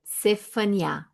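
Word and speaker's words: צפניה: Em hebraico, Faniá, Sefaniá, Tem um T, mas a gente não sabe se. Eu não sei se eu falo, se a gente se pronuncia o T ou não, mas é Cefaniá, né?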